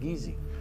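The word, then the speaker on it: Kissi: Geechee is spelled K-I-S-S-I, but it's pronounced Geechee.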